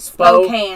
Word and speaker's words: Spokane: they say they're saying that's how to pronounce it spokane can spokane are sure it's not spooky i'm just kidding spokane thank